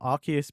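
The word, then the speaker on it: Arceus: We decided that instead of Arus and Archus, which is the official um Archus being the official pronunciation, we uh we decided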